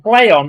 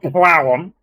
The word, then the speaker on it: Plaion: play on play on it's apparently pronounced play on not plow one um play on tony